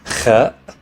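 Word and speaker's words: خ: Next is Kha, pronounced like the sound you make when you try to get something stuck out of your throat. Kha.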